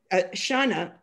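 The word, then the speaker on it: Xana: Shana, which is spelled X-A-N-A, is angry at the failure of cameras.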